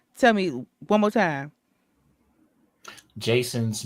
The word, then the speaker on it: Jaeson: Jason's, but it's spelled Jason's Jaeson. Jason's. J-A-E.